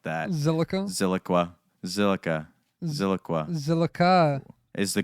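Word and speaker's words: Zilliqa: All right, Ziliqua? No, Zilica.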